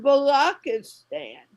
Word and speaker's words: Balochistan: Quetta, is it in Balochistan? yeah. Ma'am, actually, when you pronounce this is basically the province. It's called Balochistan.